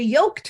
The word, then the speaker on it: Yoked: Art Walk and the yoked Farmhouse Brewery in Port Orchard and the way it's spelled it's not like egg yolks it's like the kind of Oak you put around an animal pulse right you are